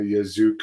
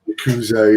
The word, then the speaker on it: Yakuza: Now we've heard all the stories of the Yazuka, or I don't know how you pronounce it. Yakuza? Yakuza, yeah, taking the male wrestlers out for fancy dinners and to massage parlors and stuff.